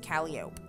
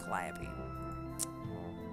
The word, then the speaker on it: Calliope: to find out that it's not pronounced Calliope it's pronounced Calliope screws bolts adhesives could